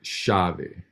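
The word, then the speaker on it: chave: it just yeah and so then we got shavi so when it's paired with the c it has a sh sound um you can say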